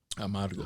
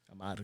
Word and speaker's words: Amargo: Amargo. How most of you niggas is saying it. Learn how to roll your R's. Amargo.